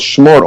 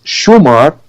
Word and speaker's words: Chemor: And we also because the family al Chemor is called Chemor only Lebanon, because 1,000 years of Aramaic influence, Syriac influence in Lebanon made we pronounce Shumar, which is the pronunciation in the rest of the Arabian Peninsula. We pronounce Chemor, but it's the same word.